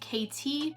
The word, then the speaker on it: Caiti: lip in the shade Caiti. It's actually like KT, but not the way I spell it.